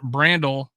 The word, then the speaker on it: Brandel: tackle in college uh bio Brando pronounced Brandel uh was a four-year